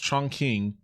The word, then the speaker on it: Chongqing: They had a bit of an Disclaimer, I mispronounced Chongqing. I think it's actually Chongqing uh many times in this video.